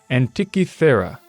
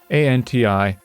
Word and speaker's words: Antikythera: By the way, I think I pronounced it wrong before. Antikythera. Antikythera.